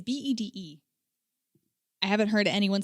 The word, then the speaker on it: Bede: I think it's Beatty. It's Bede.